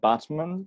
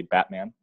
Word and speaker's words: Batman: right now Jacob yes I'm in Botsman Turkey I believe it's how they pronounce it which we would say Batman yeah Wow and Turkey